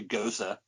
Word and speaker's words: Gose: Margarita Gose. I probably pronounced that wrong. It should be Gosa, I'm sure.